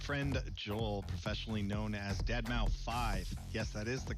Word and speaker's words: deadmau5: is your good friend joel professionally known as deadmau5 yes that is the correct way to pronounce and tell your friends we're here to